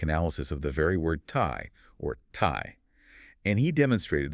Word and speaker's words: Tai: So, the original pronunciation was something approximating um Khurtai. Khurlai. Yeah. And over centuries of usage, you know, tribal divergence, natural dialectical shifts, the R sound slowly transitioned into an L sound.